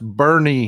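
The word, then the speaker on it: Boerne: That is pronounced Bernie here. I know it's spelled born, but we have this habit here in Texas.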